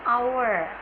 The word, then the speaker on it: hour: For example, an hour, honestly. Hour tulisannya adalah H-O-U-R, tapi pronunciation-nya kita menggunakan hour.